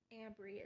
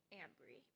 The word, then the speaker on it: Amry: missing was name but my phone pronounced it Amry Amry is my name that is how you say my name Amry so it sounds like